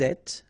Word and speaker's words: êtes: Vous êtes, little liaison to between the two and then final S not pronounced.